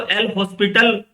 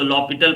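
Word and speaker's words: L'Hôpital: ये actually French word है बच्चों, है ना। हम लोग इसको एल हॉस्पिटल आप पढ़ोगे प्रोनाउंसिएशन, बट ये आपका एक फ्रेंच वर्ड है जिसमें कि बहुत सारे वर्ड साइलेंट है ना, इसके लिए इसको लॉपिटल पढ़ा जाता है।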